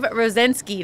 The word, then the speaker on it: Rosinsky: this is Dave Rosinsky.